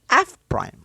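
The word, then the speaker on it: f′: to express derivatives mathematically the lagrange association f quit pronounced as f prime leibniz's notation d y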